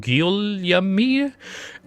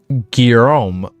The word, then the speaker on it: Guillaume: Call out Guillaume, and another third will respond, I will learn these names, I promise.